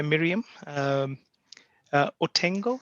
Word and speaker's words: Miriam Otengo: We've just been joined by Miriam Otengo, if I'm pronouncing it correctly.